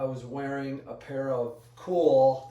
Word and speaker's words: KUHL: I was wearing a pair of cool, it's spelled KUHL hiking shorts.